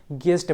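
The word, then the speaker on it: guest: ठीक उसी प्रकार से कहते हैं ग्यूस्ट नहीं पढ़ते हैं, गेस्ट पढ़ते हैं। कहने का मतलब यहाँ पे यू साइलेंट है।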